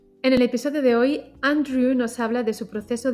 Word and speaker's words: Andrew: Si digo mi nombre, digo Andrew. A lo mejor lo que hago es pronunciarlo un poquito más lento, un poquito más claro, pero muchas veces lo que yo veo es la última sílaba al final cuesta. A veces para los hispanohablantes, quizá por la W, este sonido al final, Andrew.